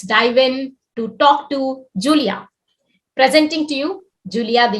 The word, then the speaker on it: Giulia: the most popular and it's just italian spelling but as soon as i moved abroad i realized that a lot of people uh were struggling with the pronunciation but that's exactly how we pronounce it so julia and and that's how